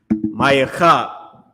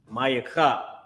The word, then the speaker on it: Micah: Now, with that being said, that's how you pronounce Micah in Hebrew. Micah. Micah.